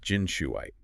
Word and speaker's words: Jinxuiite: Right, pronounced Jinshuiite.